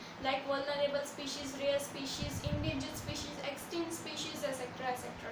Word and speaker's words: endangered: इस ई को आई की तरह लीजिए अपने दिमाग में, इंडेंजर्ड स्पीशीज।